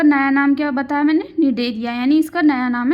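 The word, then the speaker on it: Cnidaria: इसको एस लिखते हैं। सी लिखते हैं। सी इसमें साइलेंट होता है। तो सी एन आई डी ए आर आई ए। ठीक है? निडरिया।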